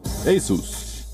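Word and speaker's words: Asus: s assist Gaius this is aces the correct pronunciation is a soos you'll be you wait the who've of Hawaii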